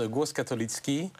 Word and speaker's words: Głos Katolicki: Vous êtes journaliste à Głos Katolici. Est-ce que je prononce bien? Alors, on prononce Głos Katolicki.